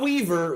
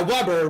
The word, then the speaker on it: Weber: No, not Weaver. Weber. Enjoy. This is the last thing I need right now. W-E-B-E-R. Oh, like Weber? Yeah, Weber. Weber Grill, but it's pronounced Weber.